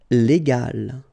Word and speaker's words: légal: this G letter, okay, and so you will pronounce this word légal, okay, légal.